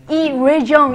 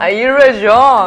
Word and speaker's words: 이뢰정: 이뢰정 이렇게 발음해야 돼요. 이뢰정.